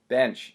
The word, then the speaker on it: Bensch: His name is Kurt Bensch. Did I pronounce that right? Yeah, just like Johnny Bench, just I have an S and he doesn't.